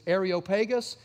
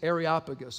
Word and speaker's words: Areopagus: arop pagus place so the Texas pronunciation of this is arop pagus for the rest of the world it's areopagus okay so that's the